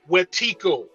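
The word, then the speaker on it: wetiko: a cycle spiritual disease called wetico spelled w-e-t-i-k-o all who are watching this must go look this up w-e-t-i-k-o is pronounced wetico I'm going to read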